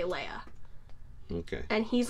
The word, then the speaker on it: Leia: know but that's what everybody everyone pronounced it Lea and then it became Leia and a lot of but a lot of the other actors like just recently watching it all the other actors say Leia okay and he's like the only one that